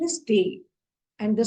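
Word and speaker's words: Tee: For tea, they will say the pronunciation is tea.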